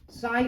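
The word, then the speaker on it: psi: is called as size spelling है पी एस I this is the wave function साई इज the wave function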